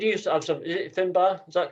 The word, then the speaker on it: Finbar: Is it Finbar? Is that correct? Yeah. Have I pronounced it correctly?